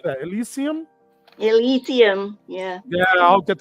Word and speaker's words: Elysium: Elysium.